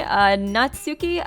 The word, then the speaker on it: Natsuki: you guys in the comments section corrected me Natsuki I've been saying her name wrong it's actually supposed to be not Sookie